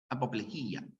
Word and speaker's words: apoplejía: ya salvo la palabra apoplejía que solo se pronuncia Así apoplejía cuando una palabra termina en cromo también tienes